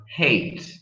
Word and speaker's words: hate: Okay, don't forget the pronunciation, Italians, of your H. Example, I hate.